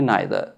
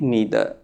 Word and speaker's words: neither: British English में नाइदर, American English में नीदर। अब ये आपकी मर्जी है, इस शब्द को चाहे आप नाइदर उच्चारण कीजिए चाहे नीदर उच्चारण कीजिए।